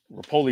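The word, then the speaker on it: Repole: They actually didn't meet the goal, but you know, Mike Rapoli, Rapolei is how you pronounce it, did say they're going to stick around anyway.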